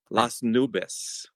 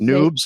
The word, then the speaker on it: Las Nubes: How are people mispronouncing that? Oh, Even I. There's so many different things. Noobs. I get you get noobs a lot. Yeah. a lot. All the time. It's like, no, that's not it.